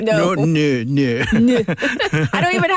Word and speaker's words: non: Like no. No.